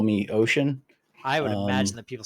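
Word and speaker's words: Oisin: get it right phonetically it is o-i-s-i-n and it's like ocean so it sounds like it sounds like I'm saying ocean uh but it's not quite so probably people call me ocean I would imagine that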